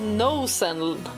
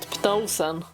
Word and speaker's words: Pnosen: It's called Nos N library, not Pnos N. Nos N. You don't pronounce the P.